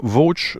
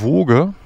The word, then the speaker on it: Voge: Übrigens zum Namen, vielleicht ist euch schon aufgefallen, dass wir immer Voach sagen, das ist auch die, so spricht man es richtig aus. Die meisten YouTuber sagen Woge.